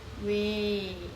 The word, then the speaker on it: ㅙ: มี ชื่อ ว่า สระ แว นะ คะ สระ แว เนาะ แน่ นอน สระ แว คน เกาหลี ก็ จะ ออก เสียง เป็น สระ สระ เว นะ คะ ไม่ นิยม ออก เสียง สระ แอ จริง ๆ ค่ะ ออก เสียง ว่า